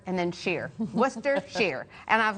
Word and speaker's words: Worcester: england outside of boston there's a town called worcester now you don't know to call it worcester unless you live there because it doesn't uh